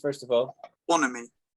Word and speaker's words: bonhomie: Bonhomie. Bonhomie. Do you know what that means? Alida won't know what that means, right? But you might, Anjali, but I don't think you do. Bonhomie.